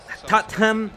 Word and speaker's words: Tottenham: Tottenham, se pronuncia así como Tottenham.